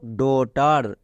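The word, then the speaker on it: daughter: টার তাহলে পুরোটা কি ডটার বোঝা গেল এখানে কেন জিএইচ এর উচ্চারণ হয়নি কারণ সাইলেন্ট লেটার বারবার বলছি ইংরেজি রিডিং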